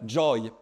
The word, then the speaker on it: joy: Et donc on dit bah joy Joy Joy hein. Si ça avait été du Normand les anglais auraient dit Jay. Mais comme ça a été emprunte et oui c'est joy.